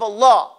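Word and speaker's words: الله: Lam lovers of Allah the Lamb of Allah has to be taken in consideration it has its own pronunciation when you say Allah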